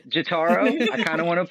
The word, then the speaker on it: Jotaro: All right, and we are back with Pat from Alesana and Jotaro.